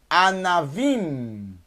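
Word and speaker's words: ענבים: O na tem que ser agudo aqui, ó. Kametz. Anavim, uvas. A, num mais kametz. Na, vet, mais yud, mais mem sufit. Anavim, fecha a boca no final. Anavim, por causa do mem sufit.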